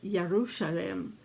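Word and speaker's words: ירושלים: word or in um yarushalam would be more of the hebrew sound and the verb of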